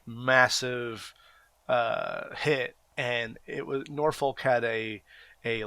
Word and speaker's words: Norfolk: place called if you're from there it's called Norfolk and it's it pronounced if you read it it looks like it says nor Foulke yeah we have enough focus also don't work